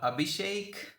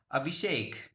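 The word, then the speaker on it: Abhishek: uh let's go sir it's not V it's like uh abishek again you pronounced my name incorrectly abishek okay I hope I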